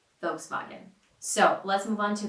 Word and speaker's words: Volkswagen: will hear people say Volkswagen because it's adjusted to American sounds but a lot of people actually prefer to say it right with the original pronunciation folks loggin folks buggin so let's move on